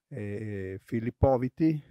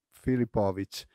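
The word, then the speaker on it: Filipović: presentare un bel giocatore filippo viti pronunciato bene filipovic e un bel prospetto che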